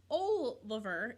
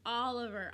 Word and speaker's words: Oliver: can you say Oliver it makes the ah sound when you say his name Oliver not Oliver not o lover it's Oliver Oliver starts with an